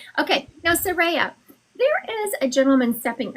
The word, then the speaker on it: Saraya: Soraya. Saraya. Oh, I should put a R-A-Y in there. That would make me say it correctly. S-A-R. There you go. Saraya. I wrote it phonetically. Okay, now Saraya, there is a gentleman